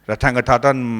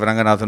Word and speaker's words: Ranganathan: They couldn't even pronounce my name. It was to be or Rathangatatan instead of Ranganathan.